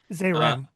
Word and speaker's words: Zeiram: That's uh zeram. Zeram. Thank you. Well, now that I've put it together phonetically.